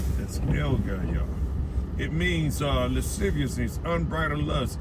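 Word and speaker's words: ἀσέλγεια: Let's get the pronunciation of it. Strong's G 766. As Elgaya. As Elgaya. That's Elgaya.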